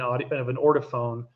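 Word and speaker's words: Ortofon: Like you're talking about, even when I always say the warmth of a Grado versus the colder sound of an Ortophone.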